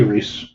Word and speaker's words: Reis: Reese and I said you get my name wrong it's Reese and the guy next to me elbows me and he says I'm David Rees spelled the same way which is not a